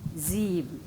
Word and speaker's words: sieben: But if it is in the beginning, Z, sechs, sieben.